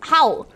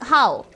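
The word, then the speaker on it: hau: By the way, in Polish, the dog bark noise is howl. Pronounced the same way as howl.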